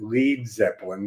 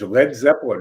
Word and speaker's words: Led Zeppelin: To give it, first of all, Peter Grant, their manager, thought people would pronounce it Lead Zeppelin. They would mispronounce it. But also, it gave it a bit of an edge. Led Zeppelin.